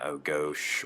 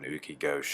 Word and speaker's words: goshi: a basic hip throw, like an O-gosh or an uki-gosh style hip throw if you're studying judo, spelled like goshi.